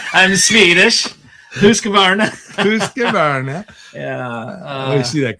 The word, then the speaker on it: Husqvarna: Mikey, that was not a bad try pronouncing Husqvarna. Husqvarna. I'm Swedish. Husqvarna.